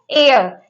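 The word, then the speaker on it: heir: तीनों में, चारों में हमारा एच साइलेंट है। ये क्या है? एयर।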